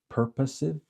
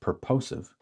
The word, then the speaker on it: purposive: There's also purposive or purposive, depending how you want to pronounce it, sampling, meaning I'm going to select on purpose people that, to respond.